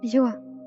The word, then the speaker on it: Zo: Anyways, my name is Zo, and in Hmong you pronounce that as Zua.